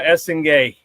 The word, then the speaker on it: Essengue: Noa Essengue. Apparently it's how it's pronounced.